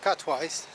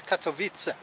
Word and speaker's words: Katowice: And the city is not Katowice, it's Katowice. That's how they say it.